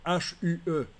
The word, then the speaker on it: hue: En anglais, teinte, ça se dit U, H-U-E.